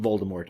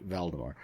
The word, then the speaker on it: Valdemar: of King vemar while there not Voldemort valdemar while there he serves